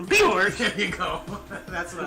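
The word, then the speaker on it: Björk: Bjork. You didn't say it right. Bjork!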